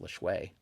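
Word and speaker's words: Lajoie: It's one of those weird spellings that I think a lot of people mispronounce, but I believe it's pronounced LeShui. So he'll probably make it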